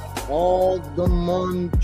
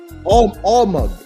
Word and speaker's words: almug: world, you go into, I think it's algamum trees. Is that how you say it, I believe? Not aluminum. Algamum. I believe that's how you say it. Almug. My bad.